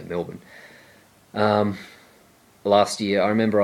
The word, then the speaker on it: Melbourne: I remember when I was in Melbourne or Milbourne if you weren't pronounced like that something Australia we just say Melbourne last year I remember I was walking down